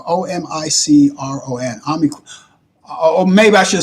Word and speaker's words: omicron: you're from omicron is is how the greeks pronounce it okay okay are you